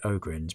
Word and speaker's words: ogryn: We've talked before about how we pronounce this, so I think because it's ogres, I'll say ogryns, but it could be an ogryn if you prefer, I don't mind.